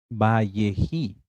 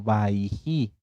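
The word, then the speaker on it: Vayechi: Amados Sahim, vamos a empezar con la parashá Vayehi. Puede ser que la encuentren ustedes en algunas Biblias hebreas, en algunas Tanaj, eh, como Vayehi o como Vaihi. Ambas pronunciaciones están bien.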